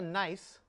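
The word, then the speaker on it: gneiss: And on the end of the table here, we have a nice that's spelled G N I S.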